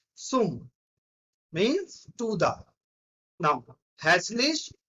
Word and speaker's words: zum: If we are having Z in the starting, it will sounds like S. Z, it will sounds like S. So it is not Zoom. It is not Zoom. It is Sum.